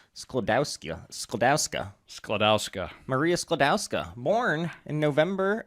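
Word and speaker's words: Skłodowska: And I want to hear you pronounce her original Polish last name. Go ahead. Oh, obviously it's Sklodowska.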